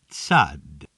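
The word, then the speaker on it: Tsade: Tsad. Also pronounced like sa. It can have a slight T sound at the beginning and slight D sound at the end.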